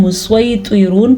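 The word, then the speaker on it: المسيطرون: ہا کے تلفظ کا خاص خیال رکھنا ہے، جو یہاں پہ آپ کو نظر آ رہا ہے اس کو ہم مسیطرون پڑھیں گے. یہاں پہ کچھ سین کی سواد کی آواز سیٹی جیسی آئے گی، یعنی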